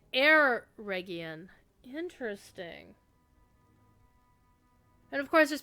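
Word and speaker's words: Eregion: we've always been saying Oregan he's like air region interesting and of course there's people that pronounce e region or a region so instead of ah it's more of an air air hmm interesting okay interesting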